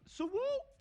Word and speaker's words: SWU: Okay, it's the SWU, pronounced Swoo. Okay, it's a street wheelchair Swoo.